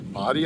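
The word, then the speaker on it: Bodie: able to tell i'm at the boate island lighthouse or some people says body island locals pronounce it but what i have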